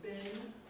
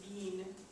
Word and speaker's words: been: been when we're speaking we just say like ben but in this poem it's tend to be at least somewhat of a rhyme with serene so it sounds a little odd to us to say bean but kind of think of something in between bin and then and b so give